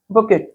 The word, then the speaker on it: bouquet: ठीक है, फूलों की माला, इसके लिए एक शब्द क्या होगा, ऑप्शन से बुकेट। अब देखिए यहाँ पर क्या लिखा हुआ है, BOUQUET, लेकिन इसका जो प्रोनाउंसिएशन होगा वो क्या होगा, बुके।